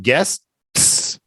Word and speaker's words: guests: Right now, when my finger is here, when my finger gets here, my tongue is up and I'm holding that T in my mouth, waiting to kick it out. Guest. I can't breathe at that point. I'm blocking all the air. Guest. Yeah. Yes. Yeah, that's right. That's right. Guests. You say it slow a couple times, and then after you'll get it right.